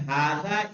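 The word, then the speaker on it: هذا: देखिए हादा जो लिखा जाता है, कह रहे हादा इज प्रोनाउंस्ड हादा, लिखने में तो हाजा लिख रहे हैं, लेकिन पढ़ेंगे कैसे। बट इट is written without the first अलिफ।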